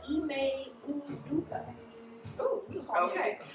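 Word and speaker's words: Ime Udoka: How's it pronounced? It's Ime Uduka.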